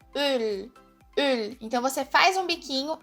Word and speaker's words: Öl: Você faz um biquinho e fala a letra E. Ele fica assim, ó. Um exemplo de palavra é a palavra Öl.